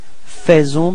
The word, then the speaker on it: faisons: So here it's quite tricky because actually we write it A-E, faisons, but then we pronounce it faisons, okay? And then final S is not pronounced.